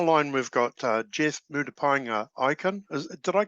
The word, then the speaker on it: Murupaenga Ikenn: gilda on the line we've got uh jeff moody pinea icon is did i correct um correctly pronounce that yep oh carpet so uh jeff